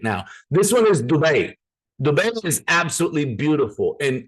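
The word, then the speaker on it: Dubai: um it is pronounced dubet I'm just saying because my mom is from there you know so we kind of learned how to say it it's an Arabic word so half my family's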